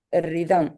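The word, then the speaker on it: rhythm: ரிதம் H very good.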